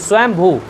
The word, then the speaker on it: स्वयंभू: नाम पड़ गया स्वयंभू शंभू नहीं स्वयंभू हां उच्चारण गलत कर